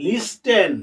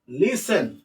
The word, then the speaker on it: listen: এখন তোমরা তো পড়ো যে LISTEN, লিস্টেন, নো, লিসেন, লিসেন।